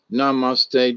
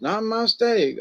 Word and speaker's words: namaste: We all know how to use namaste directly after manifest.